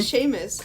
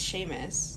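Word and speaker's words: Seamus: me see the name Sheamus I'm pretty sure it's how do you spell It's s e a m u s I think it's Sheamus we'll say Sheamus yeah that's a funny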